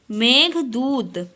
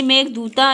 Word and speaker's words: मेघदूत: ठीक है, a famous poem of हिज इज, यानी इनकी फेमस पोयम क्या थी, मेघदूत, ठीक है, यानी मेघदूता, इसे क्या प्रोनाउंस किया जाता है, मेघदूत, ठीक है, यानी मेघ मतलब क्लाउड और दूत मतलब मैसेंजर।